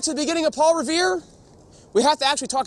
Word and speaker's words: Revere: No one could seem to pronounce Revoir in New England. He had that nasally accent and, the drop in the I's, and, it just becomes Revere.